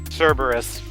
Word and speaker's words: Cerberus: New version of Apex this season, where they'll be taking on, pronounce this thing again. Cerberus.